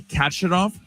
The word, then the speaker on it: Khachanov: Karen Khachanov. Okay. Do you know how to say it? No, I think you're right. Yeah, I'm about to say. Okay, it's like, excuse you.